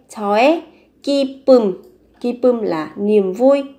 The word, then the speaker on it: 저의: Nhưng các bạn sẽ phát âm khi từ 의 này nó là sở hữu. Thì các bạn sẽ mang nghĩa phát âm là e. 저의 기쁨.